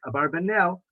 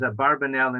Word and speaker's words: Abarbanel: So possibly that's a more correct Spanish pronunciation, Abravanel, but he is normally known as Abarbanel, and we'll use that term as well.